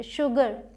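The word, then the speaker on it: sugar: यहां पर एच नहीं है फिर भी इसे हम श प्रोनाउंस करते हैं। एक्सेप्शन समझ लीजिए। शुगर शुगरकेन। ठीक है?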